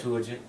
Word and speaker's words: Septuagint: Septuagint.